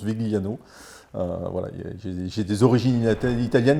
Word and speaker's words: Vigliano: Alors à l'italienne c'est Vigliano, Oui. mais bon je le prononce Vigliano.